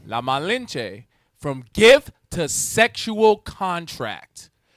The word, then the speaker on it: La Malinche: La Malinche. La Malinche.